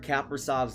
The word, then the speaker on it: Kaprizov: the Kings side, and they're pronouncing his name Kirill Kaprizov. And at first I thought it was really annoying. I thought it was really stupid, but then I realized it sounds like Capri Sun.